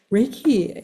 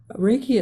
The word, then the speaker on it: Reiki: Reiki itself is a word that's divided into two syllables.